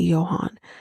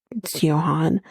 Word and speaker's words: Johan: saying his name correctly Johan because the J is not pronounced as a j it's not Johan and I know Johan